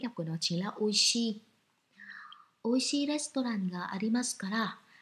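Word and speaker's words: 美味しい: Bạn tiếp theo, ở đây mình có chữ Hán là chữ Mỹ và chữ vị, và cách đọc của nó chính là oishi.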